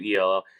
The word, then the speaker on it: Newell: Asa Noel. Asa Newell. I don't know how to pronounce the last name. It's Sure. Newell.